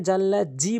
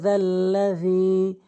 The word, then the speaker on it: الذي: এখানে জাল্লা জি বলবেন না, জিমের উচ্চারণ করবেন না, জালের উচ্চারণ করবেন। জালের উচ্চারণ হচ্ছে জিব্বার আগা দাঁতের আগা থেকে রি রি। মান যাল্লাযী ইয়াশফাউ, এখানে গুন্না করবেন, ইকফায়ে গুন্না মানে নাকের ভিতর নিয়ে পড়বেন।